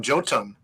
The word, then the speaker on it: Jotun: talking about them, and he pronounced them Jotun. I was like, oh, I've been pronouncing it incorrectly, but whatever.